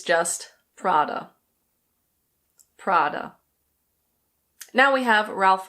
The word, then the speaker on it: Prada: This is another Italian brand and in Italian it's pronounced Prada. Prada. That's probably not perfect because it's a bit difficult for me to roll my Rs, but in any case, in English we don't roll the R at all.